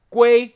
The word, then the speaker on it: 鮭: And that makes sense when you realize the word for salmon, Gui, sounds like the word for return.